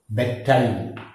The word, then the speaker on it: bedtime: Here d is dropped. Bedtime. We don't say bedtime. When we say in isolation bedtime, isolation, that is separate bed, it is pronounced as bed, then time. But when we say this as a compound word, two words together here, that is compound word. So bedtime, we say, we delete for this drop d.